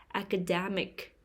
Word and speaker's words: academic: third syllable puppeteer perpetual academic academic the stress is on the third syllable academic academic classical music classical